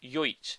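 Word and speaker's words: Jojić: Jojic is actually just Jojic. So it's Milos Jojic. You don't actually pronounce the extra J in the middle.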